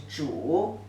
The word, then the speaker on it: 煮: 煮, the pronunciation is 煮.